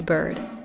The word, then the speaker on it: Byrd: And of course, like I said, if you are listening or watching me, you can go to Bird on any social media platform. And I should spell that out cuz if you're not watching me